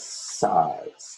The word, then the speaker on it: size: And this one is size. There's a long I in there. S-I-Z-E. The E makes the I say its name.